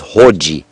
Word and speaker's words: hoji: It is hoji. I'm not sure of the spelling, but you could spell it phonetically Hodji.